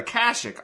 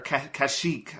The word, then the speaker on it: Kashyyyk: And Star Wars has a similar thing where they're like, we're gonna go to Kashyyyk all the time. And, or Kashyyyk, I think is what it's pronounced. Kashyyyk.